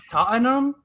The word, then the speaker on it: Tottenham: and she was like Tottenham because they say like they don't pronounce the h and already I was